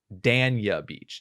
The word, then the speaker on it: Dania Beach: they pronounce it is dania beach she she says it dan like the name dash y a beach that's which is fort